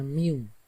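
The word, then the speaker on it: μ: Ini membacanya mu.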